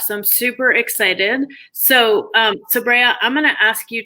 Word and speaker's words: Sabriye: So with the Turkish female names, they end with an E sound or a, but in Arab countries, everybody says Sabriye.